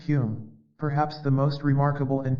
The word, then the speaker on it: Home: in the case of Daniel dunglas home pronounced Hume perhaps the most remarkable